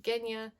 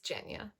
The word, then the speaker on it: Genya: off jenya love her i also completely was saying her name wrong i was saying genya it's jenya oops perfect no notes she's